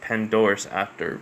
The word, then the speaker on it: Pandora's Actor: So it's a PH, so it's like Phantomus Actor, but I guess it's actually pronounced Pandora's Actor because I have trouble remembering names sometimes.